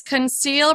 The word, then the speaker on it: conceal: complain another word is conceal remember the first if a c is followed by an EI or Y it makes the S sound so then we'll also